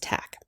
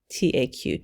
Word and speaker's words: Taq: polymerase called tac polymerase now this word is pronounced tac taq tac and that's short for the name of